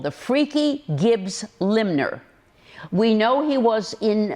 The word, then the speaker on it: limner: Robert and Margaret Gibbs now why do we call them a limmer someone who Limbs and the world is spelled the word is spelled l i MN is it draws draws